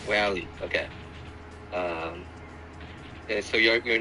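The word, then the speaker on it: Raleigh: region area but uh b r a l e i g h uh so yeah pick how you pronounce it rally R rally okay um so you're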